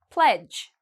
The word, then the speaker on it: pledge: Pledge. Okay, pledge, again, all of these actually kind of rhyme. You see the D and the G together, we don't pronounce the D.